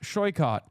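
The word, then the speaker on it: Saikat: Tell them that my name is pronounced Shyot and they should learn that.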